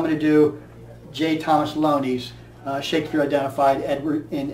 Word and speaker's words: Looney: Actually, his name is pronounced Looney El O N E Y.